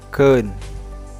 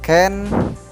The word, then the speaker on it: keun: Dibacanya keun, ya, bukan ken, bukan ken, tapi keun.